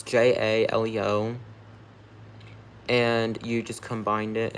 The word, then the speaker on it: Jaleo: Like, if you said it correctly, but it's Jaleo. Jaleo. I know it sounds like I'm saying it wrong, but I'm not. No, not Jello.